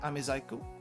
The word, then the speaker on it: amezaiku: Watch out for the rendaku on side, that's the reason why. So normally it would be sai, because thin, but it's zai in this case.